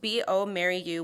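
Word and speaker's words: bioMérieux: Our client B Maryu which is spelled small B IO capital M I E UX is a family-owned company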